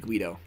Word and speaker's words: Guido: it must be so another guy named Guido who I have pronounced gaido in the past I apologize Guido used to be